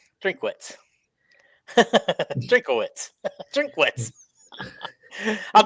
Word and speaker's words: Drinkwitz: at name pronunciation but I believe drink wits is how it's said that's exactly how it's spelled okay anyway he is